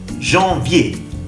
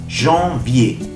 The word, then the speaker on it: janvier: Janvier. En. Janvier. El sonido en de enfant. Vier, sonido E.